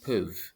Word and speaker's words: peuvent: The last thing you pronounce there is the V. Ils peuvent. The ENT is silent.